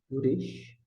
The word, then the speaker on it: Resh: Temos aqui o Uresh, que geralmente as pessoas tremulam ele, é um R mais tremulado. Não, Bereshit, por exemplo, Bere, como na palavra cara ou coroa, e no final ele termina também de forma tremulada.